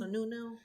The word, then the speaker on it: Sununu: Sununu.